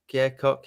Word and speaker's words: Koch: It's like the amp company KOCH. Yeah, Cock, yeah. Cock, yeah. Yeah. Or the guitar player from Nashville. They're pronounced differently.